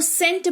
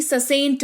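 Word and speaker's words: scent: इसको सेंट पढ़ेंगे ना कि ससेंट पढ़ेंगे। राइट? आपने कभी ध्यान दिया है कि सी का उच्चारण होता तो दोद बार स लगाते। तो ससेंट बोलते नहीं बोलते हैं ना? सेंट बोलते हैं जिसका मतलब होता है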